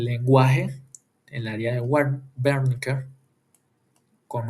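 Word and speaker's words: Wernicke: en el área de Berniker con V porque es un nombre alemán. En alemán la W se pronuncia con V.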